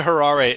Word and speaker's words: Harare: the the other one called the train to Harare is that is that how you pronounce it yeah the train to Harare and and one of the things that you